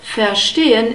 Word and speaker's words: verstehen: Verstehen, we have a long E sound. In the script we have an E and the colon, which means that it's a long vowel, and we have an unstressed E, so ich verstehe.